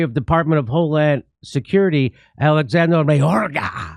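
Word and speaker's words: Alejandro Mayorkas: And so this is the Secretary of Department of Homeland Security, Alexander Mayorga. I think that's how you say his name.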